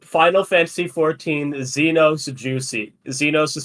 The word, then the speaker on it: Zenos: Sometimes when I was searching Final Fantasy 14 Xenos, the first thing that got recommended is Xenos Juicy.